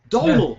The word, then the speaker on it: Domhnall: Jesus, maybe it's not Donald. Have I been saying it wrong all these years? Jesus, is there egg on my face? So I looked it up. Is it actually Domhnall? So 30 seconds is all it took. Donald.